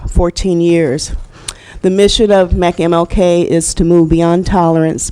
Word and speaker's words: MCMLK: organization, known as MCMLK, pronounced as MECMLK.